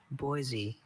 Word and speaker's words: Boise: And I've been to Boisey enough to know its inhabitants prefer that pronunciation with the hard S to the soft one.